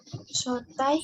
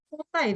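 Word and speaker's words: 早退: Shotai. Shotai no kyoka o motomeru. Sotai desu ne. Sotai. Sotai itu apa sih maksudnya sotai? Ini sering ada yang salah.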